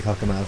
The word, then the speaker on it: Cockermouth: I don't know how to pronounce it. It's definitely Cockermouth.